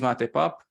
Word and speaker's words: Mate Papp: me my natural habitat um my name is mate pop it's pronounced like the mateti so it's pretty good